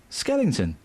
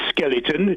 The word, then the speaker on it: skeleton: No ing in skeleton.